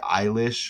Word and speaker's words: Eilish: So, I mean, you'll have look into the O'Connell thing, but you get Eilish, which kind of rhymes with Irish.